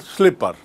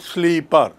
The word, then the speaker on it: slipper: Chappal in English is called slipper. Now see the spelling. S-L-I-P-P-E-R, slipper. It is pronounced as slipper. You pull, slipper. You don't pronounce it sleeper.